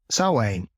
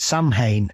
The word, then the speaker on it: Samhain: the last sort of 30 years is obviously salwaine or as donald pleasance famously mispronounced it samhain in and caused caused many uh many a